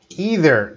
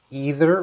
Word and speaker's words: either: Either, that can be pronounced either or either, depending on your region in the world, and neither or neither.